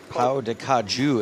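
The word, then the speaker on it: pão de queijo: Pau de Caju is how it's pronounced, says Kevin McPhee, who just moved to Brazil himself.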